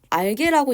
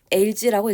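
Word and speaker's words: algae: 다음 수업에도 얘기를 하겠지만 알게라고 읽지 않고요. LG라고 읽습니다.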